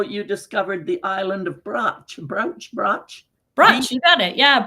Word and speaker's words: Brač: So C's often have a ch pronunciation in Croatian. They do have accent marks to indicate that, but we lose them when we bring it over into English, and that makes it really confusing.